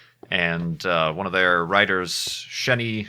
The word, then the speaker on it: Xeni: And one of their writers, Sheni Jardin, I think that's how you say her name. It's spelled Xeni.